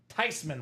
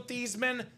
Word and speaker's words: Theismann: He said, no, I'm not mad because it's actually pronounced Theismann, Robbie. So proper pronunciation, not Joe Theismann, not Joe Theismann, probably pronounced Joe Theismann for Steven Lenhart here in the quad break.